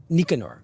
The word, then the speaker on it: Nicanor: Nicanor and first of all i am i pronouncing his name correctly Nicanor or kishore Nicanor yeah Nicanor okay sure we call him nickname Norrell Narelle